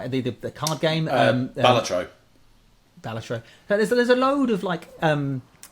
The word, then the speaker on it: Balatro: We've seen, I can always pronounce it, the Bellagio, the card game. Balatro.